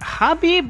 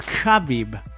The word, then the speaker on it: Khabib: Now here's a question: is it Habib or Khabib? It's Habib. I think the K is silent.